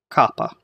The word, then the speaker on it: kappa: Alright, so we'll start out with the next letter in the list, Kappa. Kappa. Alright, now, Kappa makes a K sound, so it sounds like a K.